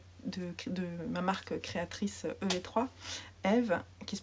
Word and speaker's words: EV3: Parce que j'ai une page Patreon de ma marque créatrice EV3, Eve, qui se prononce... Ah, ça s'écrit EV3, mais ça se prononce Eve comme mon prénom.